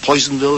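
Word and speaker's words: Personville: Harvest which is set in industrial town Penville Poisonville as it's pronounced described as as an ugly town in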